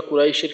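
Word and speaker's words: قريش: তো এর ভিতর প্রথমে লিইলাফি কুরাইশ, কুরাইশ, তো এইখানে দেখা যায় যে কু এবং রইশ এই দুইটা উচ্চারণ পাশাপাশি হয় না, কু রইশ একটু আলাদা আলাদা হয়ে যায়। তো এই ক্ষেত্রে খেয়াল রাখা যেন দুইটা উচ্চারণ পাশাপাশি হয়, অর্থাৎ কুরাইশ কুরাইশ।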